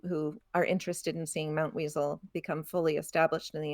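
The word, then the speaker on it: Mountweazel: And if you're wondering, it it's a Z in this in the third syllable. M O U N T W E A Z E L Mount Weasel.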